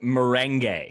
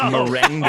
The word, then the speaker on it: merengue: It's pronounced merengue. It's merengue. Oh, I'm so Thank sorry.